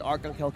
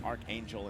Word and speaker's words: Arcangel: You said Arcangel correctly. Yeah, you know, I switch between the Archangel and Arcangel. Just, you know.